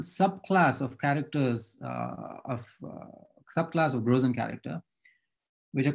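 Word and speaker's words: Größencharakter: And he called them Grösen character. So Christoph, you're going to correct my German pronunciation, Grösen character.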